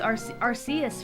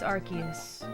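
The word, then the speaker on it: Arceus: Different times for my I called Archus Arus for the longest time. But then I heard that it's Archus.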